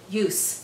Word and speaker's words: use: so in this case the word use is a noun not a verb so we have to pronounce it use with a strong s okay don't say use